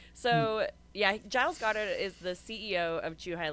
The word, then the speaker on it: Giles Goddard: And the pronunciation is Giles Goddard? Is that how you say his Yeah, name? Giles Goddard. Giles Goddard.